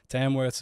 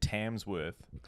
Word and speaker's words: Tamworth: you said Tamworth we've said tamsworth every time um yeah but Julia Hanford corrected us that there's no yeah no PL no plural no just Tamworth yeah tamsworth sounds that's